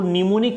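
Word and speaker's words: mnemonic: गया कुछ सांकेतिक भाषा जिसको निमोनिक कोड बोलते हैं निमोनिक लिखते एम से ये साइलेंट रहता है निमोनिक कोड कहा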